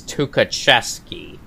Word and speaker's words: Tukhachevsky: now now i for i looked it up and it's tukachevsky yep i now pronounce it correctly to mikhail tukachevsky my